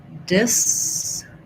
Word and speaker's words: disillusioned: Disillusioned has stress on the lu syllable. We have an I vowel for our first syllable, disillusioned. I would say a lot of people would use a schwa here for this I. You might also hear an I, disillusioned or disillusioned.